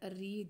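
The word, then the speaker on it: read: तो आई इसको आप लगा दे यहां पे शैल हैव फर्स्ट पर्सन है एंड रीड की आपको वी थ्री रीड ही रखनी है। रीड रेड रीड होता है।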